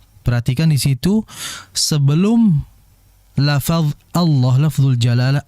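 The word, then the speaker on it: الله: Dan dari segi pengucapan lafaz Allah ini jangan sampai kita membacanya seperti Allah, seperti ada huruf waw, Allah.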